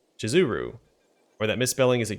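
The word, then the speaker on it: Shizuru: name of the goddess is actually spelled and pronounced jizuru or that misspelling is a great blasphemy how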